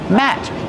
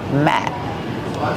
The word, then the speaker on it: mat: How do you pronounce the word mat? Matt. Use the short a sound like black cat. Matt.